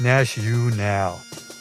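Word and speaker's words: NatUnal: So it's pronounced Nash-U-Nal.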